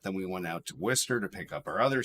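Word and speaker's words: Worcester: yeah um but yeah it's pronounced Wester if you're from Massachusetts but yeah okay um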